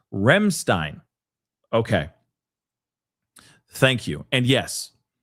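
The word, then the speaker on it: Ramstein: It's It's pronounced Remstein.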